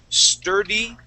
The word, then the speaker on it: sturdy: these two words together sturdy tree sturdy tree try that started three good so instead of star we want to say St sturdy tree sturdy tree good